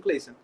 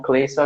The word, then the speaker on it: Cleyson: Não sei se eu pronunciei certo, é assim mesmo, Cleison? É isso mesmo. Pronto. Se apresenta aí e já já a gente começa o nosso bate-papo. Então, boa noite, pessoal. Eu me chamo Cleison, eu sou psicólogo clínico e eu faço